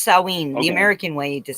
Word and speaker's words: Samhain: It's pronounced Samhain. The Okay. American way to say it is Samhain.